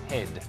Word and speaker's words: Hede: My husband's last name is H-E-D-E, pronounced Head.